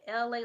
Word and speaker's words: Elay: Hi, it's me, LA, pronounced like LA like the city.